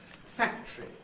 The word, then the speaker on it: factory: clearly what it was Factory I think has to be basically two syllables for me Factory although there may